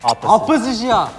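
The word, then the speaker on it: opposite: 어퍼사이드 몰라요? 어퍼사이드? 어퍼사이드 몰라요? 어퍼짓이야. 어퍼짓. 아, 영국식 발음이라 그래요.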